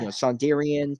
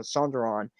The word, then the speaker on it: Sonderon: Sondarian, Sondaria, like just trying to pronounce it in different ways. And then I landed on Sonderon, and I said it about Sonderon.